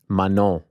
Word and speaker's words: Manon: Manon. You don't pronounce the second N. Manon.